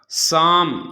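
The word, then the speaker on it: psalm: इसी तरह साम, इस क्या पढ़ते हैं, साम, ये एस से पहले पी आ गया है तो पी क्या हो जाएगा, साइलेंट हो जाएगा।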